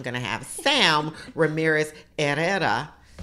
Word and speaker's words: Herrera: The H is silent, so it's Herrera.